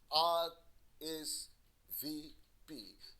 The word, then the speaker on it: RSVP: rsvp before thursday and the letters are separately pronounced r is v p don't forget to rsvp